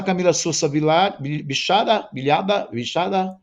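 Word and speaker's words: Camila Sosa Villada: O sucesso da Camila Sousa Bichada, pronuncia-se assim.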